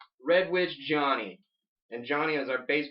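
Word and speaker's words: RedWitch Johnny: been spelled wrong like people always say red wish Johnny you're like there's a te in or or witch yeah like or they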